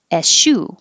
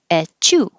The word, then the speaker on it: eschew: You have eschew with a sh or echew. Sounds like a sneeze. Echew. Or askew.